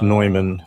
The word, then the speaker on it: Neumann: It's pronounced Neumann, not Newman.